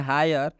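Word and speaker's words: hire: मतलब यह है कि जब किसी भी शब्द में आई आए और उस आई के बाद आर ई आता है तो आई का उच्चारण आई से हो जाता है तो इस आई का उच्चारण आई से होता है आइए फटाफट हम आपको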